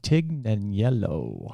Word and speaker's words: Tignanello: italian but it's uh tig and yellow right the uh the g is silent is what they say to t taken yellow